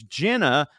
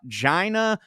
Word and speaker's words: Jenna: No dirt floors, but I did spend a lot of time trying to help folks pronounce my name, which is Jenna, not Gina, Jana, or Jenny.